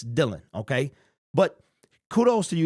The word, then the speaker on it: Dylan: Making the Band so his name is Dylan Drummond Dylan Drummond it's not Dylon it's Dylan okay but kudos to